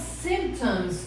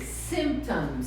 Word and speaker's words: symptoms: Quais são os symptoms of stress? Então, quais são os sintomas? Olha atenção para essa pronúncia. Symptoms. Symptoms. Tem que pronunciar o P.